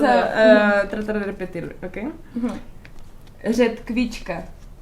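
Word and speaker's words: ředkvička: Yo te digo cómo se pronuncia y tú me vas a tratar de repetirlo, ¿ok? Redkvička. Redžbička. No. Redžbička. Redkvička.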